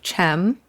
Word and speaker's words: Cem: And it's pronounced Cem. Yes, the C in Turkish is pronounced like a G.